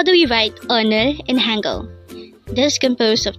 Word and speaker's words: 오늘: the first syllable is O and the second syllable is n again un un again our word for today is UN